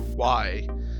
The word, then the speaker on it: y: Well, no, not like a Spanish word, just pronunciation, because the letter Y, like just by itself, is pronounced E.